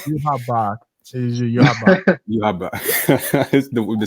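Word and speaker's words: Yhwach: Yuha Bach. Yuha Bach. The spelling is so. Whew. Yeah, it is Yuha. Yuha. Okay, cool. The W is silent.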